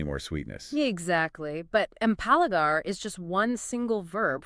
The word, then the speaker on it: empalagar: Empalagar. Ooh, yes. Let's pronounce that. Empalagar.